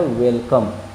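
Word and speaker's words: welcome: DONE है, उच्चारण done. Done मतलब किया, डू का विपरीत है। और पांचवा वर्ड है वेलकम।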